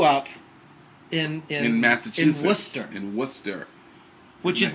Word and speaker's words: Worcester: in the sauce in the sauce but it's Worcester Mass and we just sauce exactly there's no